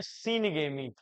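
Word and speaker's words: syngamy: नाम से जानते हैं सीन गमी ठीक है निषेचन हो या साइन गेमी भी कहा जाता है पढ़ते हैं जो भी पढ़ सकते हैं उच्चारण आपका अपना होना चाहिए यानी सिन गेमी ठीक है निषेचन को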